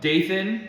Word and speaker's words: Dathan: The Lord said to Moses, so I did notice though, Dathan, spelled like Nathan but with a D, and then Abiram, they brought their families out.